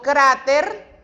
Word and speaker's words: cráter: Por ejemplo, yo digo cráter, hago la mayor énfasis de voz en la palabra cra, en la sílaba cra.